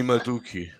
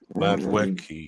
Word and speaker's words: Madueke: Noni Maduki. Maduki, sorry, Noni Noni Madueke. Madweki, yeah. Ben, say that again, please. Madweki. Noni Madueke. That's the best pronunciation I've heard yet of his name.